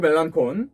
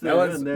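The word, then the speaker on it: Melancon: 샌프란시스코를 상대로 이 마크 멜란콘 데리고 멜란슨입니다. 왔고요. 멜란슨. 네. 그 아예 그 스펠링이 그렇게 돼 있지만 이 선수는 네. 자기가 멜란슨으로 불러달라고 했어요. 알겠습니다.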